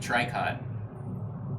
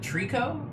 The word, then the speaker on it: tricot: trying to think of i guess the name margot has a t at the end of it that's silent it's like a french